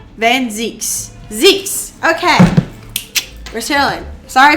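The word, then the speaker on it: van Zieks: Van Zykes is a Dutch name, and I in Dutch and German pronounce E. Van Zeeks.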